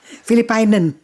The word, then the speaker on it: Filipijnen: And after that, they decided to form a group, and it was called Filipijnen Groep Nederland. That means Philippine Group Netherlands. Filipina is how they say it? Yeah, Filipijner. Filipiner? Filipijnen.